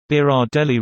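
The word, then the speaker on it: Berardelli: to remember that name just think guys but bear Adelie easy peasy edited for pronunciation beer odd le reminds me of the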